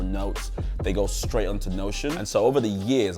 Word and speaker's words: Notion: Number 4, which rhymes with Motion, is Notion.